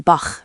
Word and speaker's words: Bach: German has 2 main chest sounds. The first is the soft one, often called the ich-Laut, like in ich, meaning I. The second is the hard one, the ach-Laut, like in Bach, meaning stream or brook. So soft ich and hard ach.